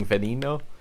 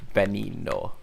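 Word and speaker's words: Veneno: end of me saying venino and it's just like i look it up and like the the pronunciation the first let the first letter supposed to be pronounced as a b it's benny no whoop into the wall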